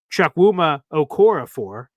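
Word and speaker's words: Chukwuma Okorafor: But I do, real quick, Chuck Wuma Okorafor, for those who are curious on how to pronounce it.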